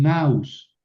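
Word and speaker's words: ναῦς: Perdón, naus, aquí es un diptongo, ¿verdad? Y entonces pongo el acento en la débil, pero lo pronuncio en la fuerte.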